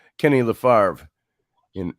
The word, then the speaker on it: Favre: I like Le farv you know how Brett Favre in Wisconsin uh used to uh yeah fabre and uh uh or it looks like favor I think and he pronounce it farv so uh Kenny will